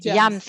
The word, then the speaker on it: JAMS: She has been awarded with the Weinstein James International, Jams is the right pronunciation, isn't it, Fidana? Yeah, Jams International Fellowship in the USA.